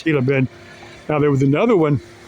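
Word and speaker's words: Gila Bend: He goes, "Yeah, I got to get to Gayla Bend." And he didn't quite get how that G is silent. It's Hila Bend. Now, there was another one. It's Hila Bend.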